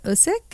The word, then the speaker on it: Usyk: But May, again, there was a clash between Tyson Fury and Alexander Usyk.